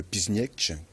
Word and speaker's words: Piszczek: Donc le maillot de Piźniec, international polonais. Vous prononcez bien.